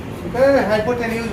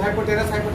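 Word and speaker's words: hypotenuse: हाइपोटेन्यूज होता है, लोग हाइपोटेनस पढ़ते हैं, प्रोनाउंसिएशन भी हाइपोटेन्यूज होता है।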